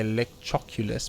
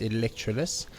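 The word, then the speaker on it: Electroculus: electrolus up there electro this is the right pronunciation um i always want to say elect choculus but it's electroless so definitely need to remember to do about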